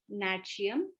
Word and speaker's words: NATCIUM: So this is our calcium matlab NATCIUM, which is also a it also rhymes with our calcium is NATCIUM caplets, and it is very easy to remember also.